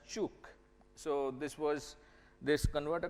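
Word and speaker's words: Ćuk: which is known as this is pronounced as chuk so this was this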